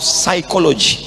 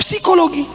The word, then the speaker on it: psychology: Tulisannya psikolog. Bacanya p-nya hilang. Psikolog. Makanya nanti kalau ditanya, "Kamu kuliah di mana?" Faculty of psychology. Jangan jawabnya, "Kamu kuliah di mana?" Faculty of Psikologi.